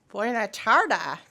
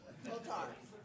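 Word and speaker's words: Boa tarde: Buena tarde. Did I say it right? Close? Botar. All right, wait. Botar. All right, Botar, Team 6-5, getting closer.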